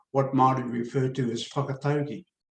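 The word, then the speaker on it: whakataukī: conference uh to what Maori referred to as whakatogi spelled w-h-a-k-a-t-a-u-k-i whakatoki or pronounce a Proverbs or metaphors that support critical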